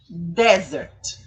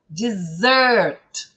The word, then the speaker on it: dessert: Aqui, sobremesa, são 2 S's e a sílaba tônica é outra, ó. Dessert é longo, não é desert, é dessert, tá bom?